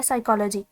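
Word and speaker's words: psychology: जैसे एक common example है साइकोलॉजी, अब साइकोलॉजी प्रोनाउंसिएशन में तो एस से स्टार्ट हो रही है, लेकिन रिटर्न फॉर्म में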